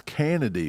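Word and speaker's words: Canady: It's spelled C A N A D Y. That's Kennedy, right? It's totally Kennedy.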